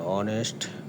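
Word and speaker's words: honest: যেমন অনেস্ট এর শুরু এইচ দিয়ে হলেও উচ্চারণ ও এর মত।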